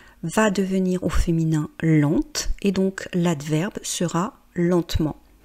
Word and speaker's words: lente: Et donc il est important, vous voyez lent l. Je ne prononce pas la dernière consonne, par contre lente, L e N T E, je prononce parce que c'est au féminin.